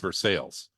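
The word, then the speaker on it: Versailles: one of my favorite uh Town names which versales which everyone looking at it from outside thinks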